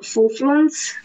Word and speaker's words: Fufluns: I don't know you, but I love Fufluns, which is the god of wine. God of wine? So much like money. That. How do you spell that one? F-U-F-L-U-N-S.